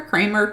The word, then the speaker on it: Kremer: name is it creamer kramer cremer yeah it's just like the old movie kramer vs creamer so it's spelled with an e but pronounces like an a and i have pronounced